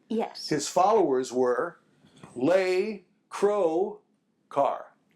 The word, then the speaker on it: Lescroart: yes his followers were L Crow car that's it they dropped the quu that's my name how